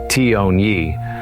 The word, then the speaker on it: Tyuonyi: This large village known as Toni, pronounced Toni, was indeed impressive.